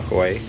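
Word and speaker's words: Huế: B-O space H-U-E, bunba hoy. And hoy is the place where it originally started. Hoy is a place in Vietnam.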